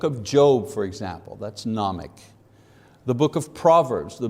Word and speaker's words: gnomic: Number one, gnomic, don't pronounce the G, gnomic, meaning knowledge.